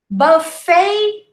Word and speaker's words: buffet: Manhattan, Manhattan, buffet, buffet, don't say buffet, right? And valet, deixei meu carro no valet. No, we say valet. Buffet, valet. It's almost as if you were pronouncing an EI.